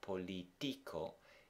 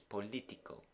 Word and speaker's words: político: It's not politico, it's politico. And for that reason, the accent is on the I.